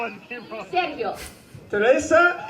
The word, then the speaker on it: Teresa: Yeah, roll that R. Teresa.